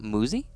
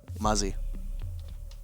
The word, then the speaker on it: Muzzy: Is that not Muzi? Muzzy. The way that's spelled, I'm like seeing it Muzi. It's Muzzy.